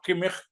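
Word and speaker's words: Kimmich: Joshua किमिख जैसे उनका pronunciation है, तो जोशुआ किमिख को मैं डेफिनेटली देखना चाहूंगा।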